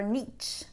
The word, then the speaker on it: niche: succeed that is your Niche or your niche as some people like to say actually I'm going to say it in the French way Niche that's the good pronunciation if you don't know